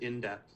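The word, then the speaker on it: IndEP: I pronounce it in depth because then it's IEP because I had an IEP, and that's why the I, the E, and the P are capitalized, and a lot of us did.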